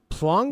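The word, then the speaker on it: Planck: He's German, so I might be pronouncing his last name, but it is spelled Max. Max Plunk. I'll be damned. Max Plunk it is.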